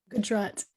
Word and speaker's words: Gujarat: with roots in, am I saying this right, Gujarat, India? Gujarat. Yeah. Gujarat. Okay, you'll have to, help me be more pronunciation specific.